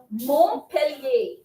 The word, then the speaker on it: Montpellier: Montpellier. M-O-N-T. P-E-L-L-I-E-R.